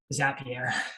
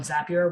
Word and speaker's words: Zapier: seen of this is zapier it's i think it's supposed to rhyme with happier um i think i